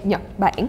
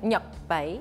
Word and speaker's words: Nhật Bản: In Vietnamese, we say Nhật Bản. Nhật Bản.